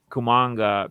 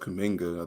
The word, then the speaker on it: Kuminga: There's a lot of guys like Boul and Kumanga. Kumanga? Is that how you pronounce it? Kumanga? What's his name? I think it's pronounced Kuminga. I think Kuminga.